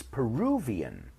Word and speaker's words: Peruvian: this one this one it's not Peru n' it's Peruvian right a V in English so someone from Peru